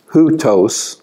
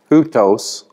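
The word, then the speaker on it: οὗτος: accent mark, and then that thing that looks like a comma is a rough breathing mark. That means like you put an H in front of it. Hutos, that's a diphthong. Hutos is a personal pronoun.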